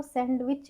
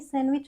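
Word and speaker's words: sandwich: फिर हमारा सैंडविच आप बोलते हो सैंडविच खाते हो बट वह सैंडविच नहीं सैंडविच होता है। तो यहां पर हमारा डी साइलेंट होता है।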